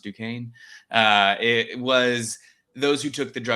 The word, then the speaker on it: Duquesne: And the only pharmacists at my university who did, which we learned is pronounced Duquesne, it was those who took the drugs of abuse class.